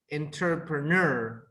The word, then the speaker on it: entrepreneur: This one is like a 4-syllable words. It's like normally the intonation goes at the end. Ner, entrepreneur, or you can say ner. Both are correct.